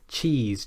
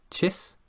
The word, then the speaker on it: cheese: cheese cheese cheese okay a good way to check if you're getting this right is to place your finger under your chin you'll feel the muscles there tense up if you're pronouncing this correctly if you're pronouncing it like chis then you won't feel those muscles and that's the